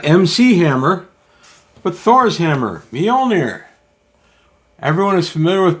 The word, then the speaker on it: Mjolnir: And uh interestingly, when I was a kid reading Thor comic books, we all pronounced it majolner because we didn't know how to pronounce it.